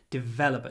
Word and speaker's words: developer: is a software developer developer try to hold the V developer not but developer lots of V not too much a